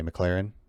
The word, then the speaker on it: McLaren: right what did i say mclaren like the car mclaren yeah mclaren yeah